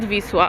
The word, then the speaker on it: Wisła: Did I totally mispronounce the name? Possible. In Polish it's called Wisła, okay?